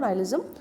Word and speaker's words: nihilism: নাইলিজম বানানটা হলো NIHILISM, বাট উচ্চারণ হলো নাইলিজম।